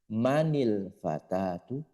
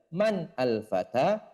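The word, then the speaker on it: مَنِ الْفَتَى: itu Syamsiah ataupun Qariah maka berganti Man menjadi mani ketika kita membacanya di sambung manil fatatu manil fatatu manil Fata ketika disambung namun ketika dipenggal man alfata man alfata tu seperti itu sebagaimana di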